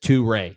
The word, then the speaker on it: Touré: Martin Dubé saying Touré is pronounced, and he says Touré, not Torre, which I've been saying. Found in 3 or 4 West African countries.